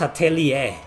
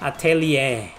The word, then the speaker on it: Atelier: Atelier think it's pronounced atellier the r is silent atellier what's up everybody we